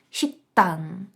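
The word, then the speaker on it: 식당: після неї йде Т Значить ми вимовляємо шіктан шктан в нас ти подвоюється ми робимо таку гарну напругу наступний приклад написано підчару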